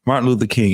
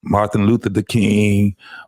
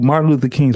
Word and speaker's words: Martin Luther King: They don't even know how to pronounce his name right. Martin Luther the King, Martin Lucia King.